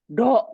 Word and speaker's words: ろ: R plus O goes to ろ、 ro. Good. Ro.